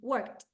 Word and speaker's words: worked: this it's not work it is worked worked worked because it's a t sound okay so the important